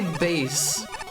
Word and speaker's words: Bass: Mega Man actually pronounces it like the fish do. It does, but it's obviously supposed to be it's supposed to be bass. It's to fit in with all of the other funny musical what?